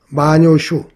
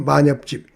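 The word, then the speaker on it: 万葉集: 일본의 마녀집이라고 있는데요. 마녀슈 우리 발음으로 만엽집 그 마엽집에 실려 있는 그 5천 수가 넘다 그래요.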